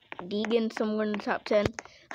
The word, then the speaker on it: Deegan: in the lead haley diggin deegan somewhere in the top ten i said her name wrong i think i said dagon which is not even what that sounds weird great racing i wanted